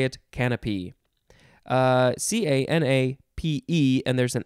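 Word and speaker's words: canapé: new channels next is you could pronounce this a couple ways most people say it's canape but some people like to say canopy but you would say it canopy c-a-n-a-p-e and there's an accent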